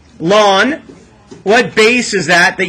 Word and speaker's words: ln: to write e down Ln how do we pronounce it lon what base is that